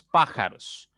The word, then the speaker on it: pájaros: Y re y men son las sílabas átonas porque esas no tienen la fuerza, la mayor fuerza como tiene la segunda sílaba. ¿Ok? Veamos pájaros.